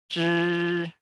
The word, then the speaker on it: zhi: Kalau ini kita harus gulung lidah, ujung lidahnya ke belakang, ke arah belakang. Lalu sentuhkan permukaan ujung bawah lidah ke lengkung lelangit tengah atau langit-langit bagian tengah. Lalu ucapkan che pada teacher ya. Pada teacher. Nah, sini karena i jadi zhi.